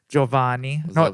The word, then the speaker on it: Giovanni: And to my left here, we have my old friend, Giovanni. Is it Giovanni or Giovanni? It's Giovanni. Giovanni?